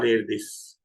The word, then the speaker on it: Erdős: So one such great example is Paul Erdos, or pronunciation is different, Paul Erdős.